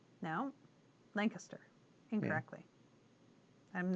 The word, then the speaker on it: Lancaster: I also got corrected today because I was saying Lancaster? No, Lancaster, incorrectly.